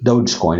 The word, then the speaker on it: Dogecoin: Dogecoin or Dodgecoin, whatever that is, down almost 10%. Dogecoin is how you pronounce it. Doge.